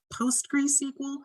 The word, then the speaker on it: PostgreSQL: Just FYI, we do have the server management add-on, and we've activated our, Sean, PostgreSQL. How do you pronounce this word? You nailed it. That's perfect. Nailed it.